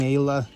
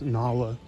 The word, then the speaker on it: Nala: just Simba and and nla in there it's pronounced Nala yeah that's what I